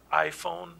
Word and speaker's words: Aiphone: I think it's just iPhone system. Yeah. AIPHONE.